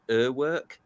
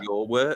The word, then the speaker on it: Urwerk: This is a brand that I don't know a lot about, and I think it's pronounced Urwerk rather than your work.